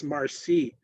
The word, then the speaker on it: marci: is in Cree, or even merci in Michif, it's marci. It's spelled differently, it's pronounced differently.